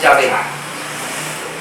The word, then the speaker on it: Yahvé: La Biblia, obviamente, usted lee y encuentra Jehová, pero mejor, no sé, dicen que la mejor pronunciación es Yahvé.